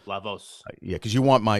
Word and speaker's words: La Voz: voz by the way that's the way you pronounce it right lavos yeah cause you want my you know hispanic